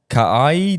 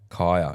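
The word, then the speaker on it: Kaia: Ka'ai Jordan Gerber. I hope I Jeez, pronounced you that butchered right.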